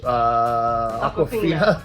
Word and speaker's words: Awkwafina: Yeah, she doesn't spell it that way though. I know, but you say it the same way, right?